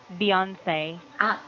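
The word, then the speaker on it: Beyoncé: Yes, and recently I'm running the dance of Beyonce, and Beyonce, Beyonce. yes, Beyonce. Beyonce, and I Okay. forgot Say, the say. title. Yes, say, Beyond, sorry. Beyonce.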